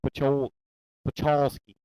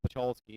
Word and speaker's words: Pacholski: Pachowski? Yes, sir. It's a Polish name, but I can't. He pronounces it in a way I can't repronounce it. It's like Pacholski.